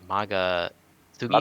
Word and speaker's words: Magatsuhi: and also another thing is the with the gameplay I forgot how you pronounce it, the Maga Sugi skills. Magatsuki.